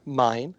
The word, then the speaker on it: Main: The main character, Mine, as she's called, it's spelled M-A-I-N, the Mine character, is she has a huge passion for books and reading.